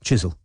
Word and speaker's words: Chiswell: antiquated frowning strike asked how did the caller pronounce chiswell can you remember they said it right chisel fits with jimmy said